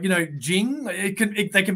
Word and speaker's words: Jing: guy who is he his name is Jing and he is here to talk about all